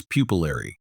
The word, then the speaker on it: pupillary: The adjective form is pupillary. Repeat after me. Pupillary. Again, emphasize the bolded syllable, pill.